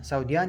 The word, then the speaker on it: سعوديان: نكتب عين بس لكن لا ننطق، نقول سوديان يعني السعوديين.